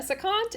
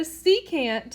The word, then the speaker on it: secant: angle measures part one now a saccade is not a real thing but a secant however is a real thing so a secant that's how you pronounce it secant is a line